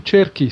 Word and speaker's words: Cerchi: Last name Cerchi, Cerchi. You write it Cerchi, you spell it like turkey.